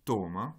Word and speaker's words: toma: Dans le deuxième, toma, vous avez un accent sur la première syllabe.